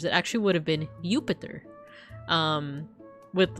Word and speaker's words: Jupiter: wouldn't have been pronounced Jupiter back in Roman times. It actually would have been Jupiter. Um with with like a Y sound.